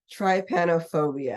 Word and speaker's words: trypanophobia: And the term for it is, and do you want to try to pronounce it, Mason? Trypanophobia.